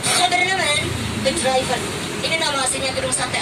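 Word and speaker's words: Gouvernementsbedrijven: Tapi pelafalannya orang Belanda, huruf G itu kayak K. Jadi saya bacanya harus pakai pelafalan. Government Bedrijven.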